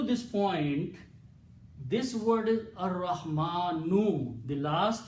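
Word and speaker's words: الرحمن: ra in the tajweed, the ra and lam, when they come together, the ra kills the sound of lam and is pronounced twice, ra. So it becomes Ar-Rahmanu. Al is pronounced as a ra. So what you do? You put a shadda on this. Okay, so this is pronounced as Ar-Rahmanu. Okay, no harakat on lam. Okay, lam becomes silent, ra becomes twice.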